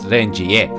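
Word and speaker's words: Renjie: As I actually looked up, he is supposed to be pronounced Rengier, but it doesn't really matter.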